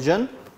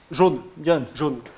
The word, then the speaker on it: jaune: Jeune, how do you say in French? Jaune.